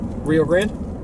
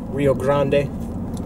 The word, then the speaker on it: Rio Grande: There's a debate on how to say it. I think we're supposed to say it the way that they say it, which is Rio Grande, but we say Rio Grande.